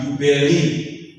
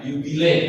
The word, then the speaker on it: jubile: Ya, tapi bukan yubeli. Yubeli bukan, yubile harusnya. Nah, tahun jubileum ini adalah tahun di mana orang bisa mendoakan dirinya sendiri dan orang yang sudah tiada.